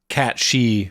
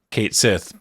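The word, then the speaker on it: Cait Sith: This might be inspired by the mythical Cat She from Scottish Gaelic folklore, which is how you're supposed to pronounce Kate Sith, but again, that ship has sailed.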